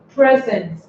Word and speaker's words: present: For example, present, a present, that is a gift, right? A present, you can see that it is a noun, it's the name of something you give to somebody, and it has 2 syllables.